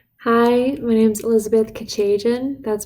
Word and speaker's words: Kechejian: Hi, my name's Elizabeth Kechejian. That's pronounced Kechejian.